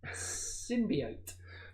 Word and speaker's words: symbiote: I know how to pronounce it because of... Hang on now. I feel something good's coming here. Symbiote.